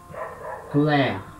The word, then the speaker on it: clair: Quando a cor é clara, eu posso dizer clair. E aí, se a cor tiver no feminino, eu falo Claire, tá? É a mesma pronúncia, mas eu tenho um E aqui no final.